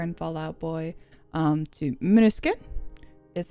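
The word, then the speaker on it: Måneskin: that entirely right but the a with a um with that little circle above it I believe if from what my family has sto me um I believe believe is pronounced like a uh sound um so it's mudis kid um sleep token my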